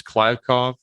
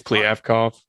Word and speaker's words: Kliavkoff: Since Pac-12 Commissioner George Kliavkoff, whose name I think I butchered, I thought it was Kliavkoff. Yeah, apparently it's Kliavkoff.